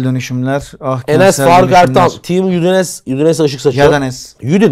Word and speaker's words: Udine: Team Udinese ışık saçıyor. Yadanes. Udin değil mi o da aslında? Udine. Udine. Udine. Udine şehrin adı. Türkçesi. Udin. Evet. Udin mi Udine mi? Udine.